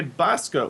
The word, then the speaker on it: Basco: It's Dante Basco. Basco? Bosca. It's been pronounced both ways, but I'm really Bosca.